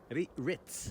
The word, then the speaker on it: Ritz: the crackers they're called ricks okay again exactly ritz wreath rit can you say rit rich ritz